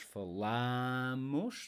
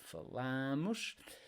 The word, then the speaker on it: falamos: Always, all these verb forms, they are stressed on the next to last syllable. Eu falo, tu falas, ela fala, nós falamos, next to last, falamos, vocês falam, eles falam.